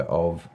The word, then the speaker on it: Au: Fast forward a few years, you are now the co-founder of AU Consulting, pronounced O, as I've learnt. AU is a Maori term.